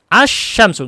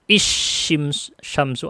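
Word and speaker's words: الشمس: Asyamsu, nggak mungkin dibaca isyamsu atau usyam, nggak bisa. Pasti bacanya asyamsu.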